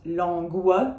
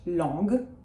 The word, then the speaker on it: langue: GU is a hard g, it is not gua, so it is not langue, it is just langue.